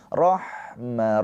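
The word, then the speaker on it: رحمة: Rohma roh awas. Ha mempunyai sifat rakah mengalir suaranya dan juga hams mengalir nafasnya. Dan ha ini huruf yang bersih ya. Jangan rok. Nanti huruf K itu yang bersih.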